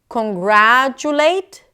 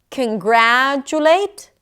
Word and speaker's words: congratulate: Think about it. Congratulate, congratulate. If it still sounds okay and it doesn't mess up the pronunciation of the word, it probably means that it's a schwa and you can reduce it.